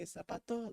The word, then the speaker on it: zapato: like anytime i say zapato like i gotta like pronounce the z as like if it was an s so like even though